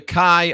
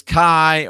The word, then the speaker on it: chai: eight one eight and i don't know if you pronounce this kai or chai i think it's kai c-h-a-i it's a jewish symbol associated with 18.